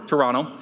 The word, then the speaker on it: Toronto: There's no second T apparently. Toronto. Toronto.